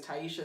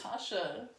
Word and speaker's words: Taisha: Because her name is spelled Taisha. Taisha. But if you're not paying attention, the I, you skip it.